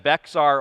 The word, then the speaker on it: Bexar: um bear you know we didn't even actually require that you know how to pronounce bear so if you said Bexar or bear we we counted both because you know it